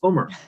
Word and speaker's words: Umar: my name the way it's supposed to be pronounced the challenge is most people can't say it no it's okay it's homer but but most people can't say it i